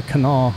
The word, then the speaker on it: Kanawha: area and is wondering how I knew that this was called the Kanawha River, considering the spelling has a very obvious third syllable, well, that's just how I roll.